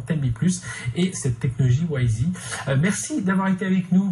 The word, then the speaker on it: Wysii: au volume de transaction donc la technologie s'appelle wi wi mais on va la prononcer en anglais wi plus je suis perdu